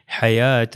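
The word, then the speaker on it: حياة: वो शॉर्ट अलिफ है मगर वो शॉर्ट अलिफ किसके लिए है वो या के लिए तो इसलिए इसकी प्रोनाउंसिएशन इस तरह होगी हयात अलिफ की मिसाल देखिए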